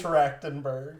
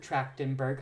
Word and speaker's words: Trachtenberg: Did I pronounce the last name wrong? Yes, it's Trachtenberg. Trachtenberg.